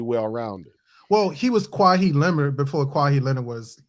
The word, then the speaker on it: Kawhi: It's just Kawhi. Like there's no he. Cry, it's like cry, but just with a just cry.